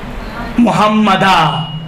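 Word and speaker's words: مُحَمَّدًا: جہاں پر محمدن ہے، آپ نے محمدن پہ رکنا ہے، کیسے تلفظ کریں گے؟ محمدہ. محمدن پہ، ہاں محمدین پہ کرنا ہو تو محمد کہیں گے، لیکن ما قبل پہلے کے لیے محمدن ہو تو کیا پڑھیں گے آپ؟ محمدہ پڑھیں گے.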